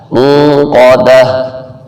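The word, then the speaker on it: الموقدة: جیسے پہلے بتایا تھا گول تا پہ جب وقف کیا جائے تو وہ ہا بن جاتا ہے. موقدہ.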